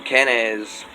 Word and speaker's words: Kenaz: Phonetically speaking, Kenaz is a C or a K, but we've got to recognize Northern Germanic dialects did not have a soft C like you would see in the word facade or in Tsar, the Russian Tsar. It was always a hard K type sound, as in cake or cat.